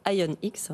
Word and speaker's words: ION-X: Merci beaucoup Thomas Hiriard d'être venu, directeur général adjoint de IONX, donc c'est ça la prononciation.